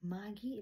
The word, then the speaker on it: Margie: Dili day, Maggie ilahang pagbasa day, Maggie. Ha? Wala niya pronounce ang R.